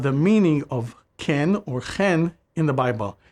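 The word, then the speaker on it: כן: The last word of the verse is a new one, chen, which is more often pronounced ken.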